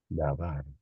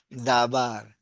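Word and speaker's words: דָּבָר: ¿Cómo se pronuncia esto? Dabar. Dabar.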